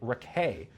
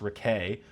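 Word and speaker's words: Raquet: new trade acquisition Nick Ray, spelled racket, uh, but pronounced Ray, who was acquired in a trade with the St.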